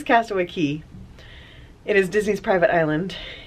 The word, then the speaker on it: Castaway Cay: I think I keep saying Castaway Cay because that's how it's spelled, but it is Castaway Key.